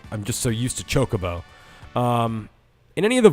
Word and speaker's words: Chocobo: for for pronunciation uh you did put the accent on the second syllable so Chocobo not Chocobo interesting we had a